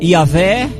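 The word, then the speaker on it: Yahweh: quatro letrinhas yhwh pronúncia só tem consoante não tem Jardim não consegue pronunciar tipo palavra E aí só fique fez aí os Escritores foram temos que colocar algumas vogais no meio vou poder falar e aí ficou yaveh ou Jeová O que é de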